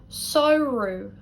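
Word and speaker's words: samhradh: Then let's look at ADH, which is much the same. We're going to look at 2 seasons to show you how this is pronounced. We're going to look at winter, which is gevru, gevru. Summer, sauru, sauru. AMH or ADH in Ulster is oo.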